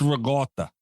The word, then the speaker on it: ricotta: No, it's ricotta. Ricotta is how you say it for everybody.